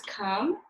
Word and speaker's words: come: Number 9 is come. C-O-M-E. Remember, the E is silent.